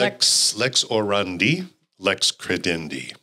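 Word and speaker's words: lex orandi, lex credendi: reflected in our prayer and how is it pronounced correctly Le Lex orandi Lex credendi right yeah the law of praying is the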